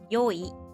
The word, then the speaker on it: よい: Actually, even today in formal writing like papers, it's still pronounced yoi.